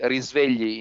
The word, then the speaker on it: Risvegli: risvegli in Italian.